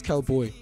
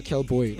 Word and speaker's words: KxlBxy: But if you pronounce it, it's Kelboy. Yeah, Kelboy. Okay, now just tell the viewers there one more time. If you're looking for me on IG, KxlBxy. Yes, Kelboy.